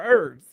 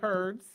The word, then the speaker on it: herbs: We make the H silent. I don't know. Some people say herbs.